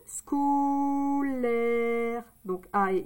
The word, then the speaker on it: scolaire: On entend le C. Donc, S, ça fait le son S. Et le C, ça fait le son que. Donc, S et que, ça fait SK. SK. Là, j'ai dit SCO.